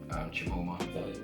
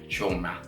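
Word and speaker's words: Chioma: You probably deal with Paul and Chimoma. Is that her name? Chimoma? I can't pronounce the name wrong. Choma. There we go. Choma.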